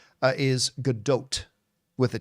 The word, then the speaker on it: Gadot: um by the way Chris it is not pronounced gdo it's not pronounced gdo I thought for a very very long time it was pronounced gdau apparently the proper pronunciation that I've heard her say uh is GDOT with a t on theend I I know